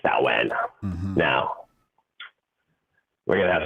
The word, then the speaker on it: Samhain: Or Samhain is spelled Samhain, but it's called like Samhain.